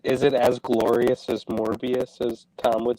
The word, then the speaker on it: Morbius: seen morbius either but Tom says morbius is glorious so that's why I asked it right because it rhymes with glorious yeah I know I